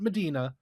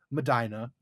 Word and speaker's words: Medina: Not Medina. Madina. Um Madina, Ohio. Um and Madina rhymes with vagina.